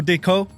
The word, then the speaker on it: Diqo: Admiral Diqo, assalamu alaikum, brother. Welcome to the show. Brother. Thank you for having me. Did I pronounce your name right? Diqo is the typical pronunciation.